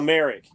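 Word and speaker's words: Mayerik: I don't remember how his last name is pronounced. Valmeric. Val Merrick.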